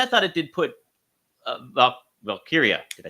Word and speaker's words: Valkyria: really good and I thought it did put valkia did I say it right you did see